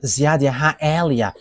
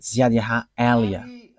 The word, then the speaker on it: YAHVAH Eliah: And that is not a Malagasy name, but that is the name from us, and that is my name, so I pronounce it as my father pronounced it, YAHVAH Eliah.